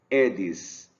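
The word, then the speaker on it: Aedes: um subgênero o Edson não é a eles a pronúncia é edes egipt é espécie do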